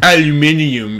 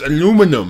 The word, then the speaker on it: aluminum: Aluminium. It's aluminum. That's aluminum foil. Aluminum. Not aluminium. That sounds like, that's mad. It sounds like a lot of syllables.